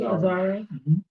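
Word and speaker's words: Azzaro: And Outlaw that that fragrance is inspired by Wanted by um Aaro. Am I pronouncing that correctly? Aaro. Correct.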